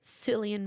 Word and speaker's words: Cillian: Cillian Murphy. I think is how you say his name from Peaky Blinders.